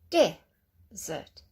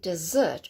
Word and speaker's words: desert: Desert, dessert. Now don't say dessert, because that is an after meal sweet treat. It's got an extra S in it as well, but be careful with that one.